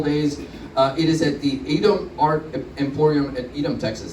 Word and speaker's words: Edom: It is at the Edom Art Emporium at Edom, Texas. Did I pronounce that right? Edom or Edom?